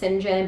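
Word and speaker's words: St. John: turned away this man sinjin saint john not sure how to pronounce it my the notes of my book said it was pronounced sinjin but it is spelled saint john um sinjin rivers shows up i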